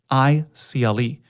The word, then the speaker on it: Radicle: It's spelled like particle, Radicle. And that spelling of radical, phonetically, it's like, yeah, we're radical.